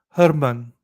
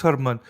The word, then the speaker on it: Heuermann: Before we hear a video stating his name, I'm going to say it's pronounced Herman. Rex Herman.